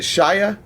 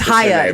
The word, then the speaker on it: Chaya: It's Chaya. It's Chaya. Adolf Rychek. No, it's Haya. That's what it is. It's Haya. CH, like challah bread. It makes an H, so it's Haya Rychek.